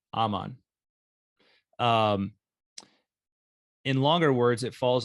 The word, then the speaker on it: Aman: longer all right so in words of two syllables the stress falls in practically all cases on the first syllable so i'm on it would be aman right aman in longer words it